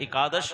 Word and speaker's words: एकादशी: संस्कृत का शब्द है एकादश का मतलब है 11 कई जगह तो ग्यारस बोलते हैं इसको कई जगह पंजाबी लोग तो बिगाड़ देते हैं कहीं पंजाब में जाता हूं एकादशी पूरा उच्चारण नहीं होता और साथ